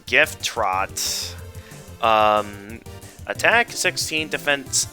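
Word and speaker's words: Gyftrot: didn't even take the time to pra everyone pronounces it jay fraught that i didn't even take the time to properly pronounce it correctly it's gift trot um attack 16 defense 8 some teens decorated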